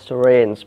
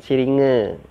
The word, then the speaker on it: syringe: Dan jarum suntik dinamakan syringe ya, bacanya syringe bukan siringe ya, syringe.